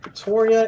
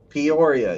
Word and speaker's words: Peoria: Pretoria, Illinois, Springfield, Illinois. Peoria.